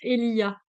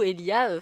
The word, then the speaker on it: Elijah: Je crois que ça se prononce Elia.